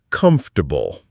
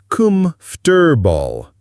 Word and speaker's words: comfortable: The correct pronunciation is comfortable. Notice how the or almost disappears and it becomes 3 syllables, not 4.